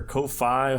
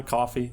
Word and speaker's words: Ko-fi: As always, there is also the Ko-fi, or Ko-fi, however you want to pronounce it, account. Ko-fi, coffee, there it is.